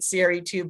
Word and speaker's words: CRE2: So we've been trying ever since then to help everyone kind of partner with us in calling it CRE2, but it's hard because we were CRE2 or Cree for so long.